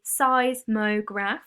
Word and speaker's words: seismograph: earthquake a seismograph a seismograph say size mograph that's how you pronounce it is a special piece